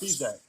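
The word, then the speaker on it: Spisak: that you attended, and correct me on the name if I'm wrong, but it's Frank Spacek. Is that how you say it? Frank Spizak? Yes. Spacek.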